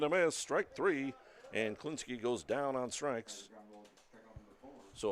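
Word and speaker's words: Kliniske: Pronounced Klinsky.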